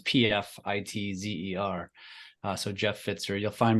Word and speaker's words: Pfitzer: So it's last name looks like Pfizer, but it's not. There's a T in there and it's pronounced Pfitzer. So it's Pfitzer.